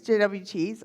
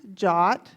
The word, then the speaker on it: JWT: JSON web tokens tokens JWTs. They are pronounced jot. They took the time to put that in the spec so we can all appreciate that so that we don't have to say jwt every time.